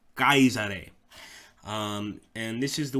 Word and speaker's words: Caesar: got it right so you would not say Caesar you would probably have your head cut off